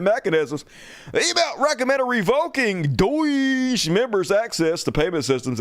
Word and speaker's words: DOGE: Yes, Doge is how you pronounce that. I don't care what anybody says. It's got the word Doge in it. Doge. That's how you pronounce it, Doge.